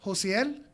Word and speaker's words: Josiel: That's Josiel. Did I pronounce that correct? Yes.